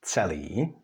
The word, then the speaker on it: celý: In Czech words, you can see it, for example, in celý, which means all or the whole, like celý den, that we all day, or in the word otec, which means father.